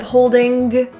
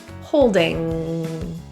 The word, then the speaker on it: holding: The ing in holding is a nasal the back of the tongue sound. There is no hard G, g, g, g. Instead of holding, holding.